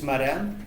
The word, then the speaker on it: Moran: i I'm this guy my name is Moran if you are wondering how you pronounce it but if you call